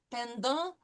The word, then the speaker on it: pendant: Tu as parlé français pendant les vacances? Vous avez parlé politique hier soir. Okay, so hier soir means last night. Pendant, no pronouncing of the T, pendant les vacances, right?